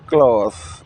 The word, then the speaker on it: clothe: C L O T H E ditulis C L O T H E diucapkan close bentuk satunya.